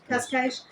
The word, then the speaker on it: Cascais: Cascais.